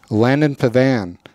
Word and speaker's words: Pavan: for his YouTube channel at Mountain Standard time.can Pavan am I saying that right Landon yeah yeah